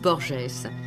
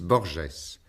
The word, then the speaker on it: Borges: entretien avec George Louis borgess une émission de George charbonnier aujourd'hui ultraïme le premier entretien de cette série était une approche de George Louis borgess l'écrivain a bien voulu agréer cette prononciation francisée les entretiens qui vont